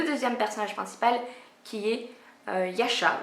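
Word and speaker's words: Yascha: personnage principal qui est Yasha. Je crois que ça se dit comme ça. Hein, ça s'écrit Y-A-S-C-H-A. Donc Yasha, je ne sais pas si ça se prononce différemment, bref.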